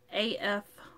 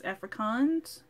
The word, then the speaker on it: Afrikaans: of the language correctly it's a-f-r-i-k-a-a-n-s africans afrikaans i need to hold up afrikaans afrikaans i said it right yay okay so afrikaans this